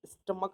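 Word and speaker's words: stomach: स्टमक हम इसको बोलेंगे।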